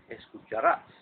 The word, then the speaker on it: escucharás: to, familiar and singular, escucharás, which requires the A once again to carry a tilde because of the fact that we stress the last syllable and the word ends in an S.